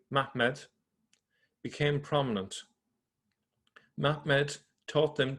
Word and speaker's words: Muhammad: In that period, a certain one of them, a man of the sons of Ishmael named Muhammad, or actually I should say it correctly, Mahmed, became prominent.